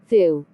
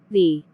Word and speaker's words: the: a short sound like thu but when the comes before a vowel sound we pronounce it as a long thee for example the apple